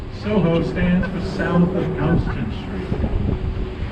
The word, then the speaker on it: Houston: like that is Soho stands for south of Houston Street Houston is the correct pronunciation it looks like Houston to many people it isn't that's a different